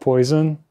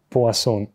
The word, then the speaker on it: Poisson: So we talk about the Poisson equation, not poison, as some people pronounce it, Poisson.